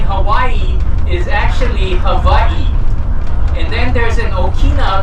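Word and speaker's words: Hawaiʻi: w like white key if it's anywhere after that first letter the correct way of pronouncing it is like a V so the correct way of saying Hawaii is actually Havi and then there's an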